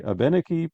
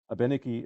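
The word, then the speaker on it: Abenaki: Indina throughout the generations by the way I was recently told by an aeni speaker that this is how abeni and wabanaki are pronounced I hope it's correct that's what I was told uh this event is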